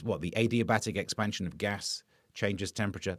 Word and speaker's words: adiabatic: It's what the adiabatic expansion of gas changes temperature. That's how it works. Some people pronounce it like a diabetic. I think they're wrong.